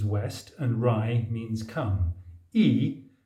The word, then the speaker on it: 意: and Ry means come e pronounced not as in white but as in green means intention or Aim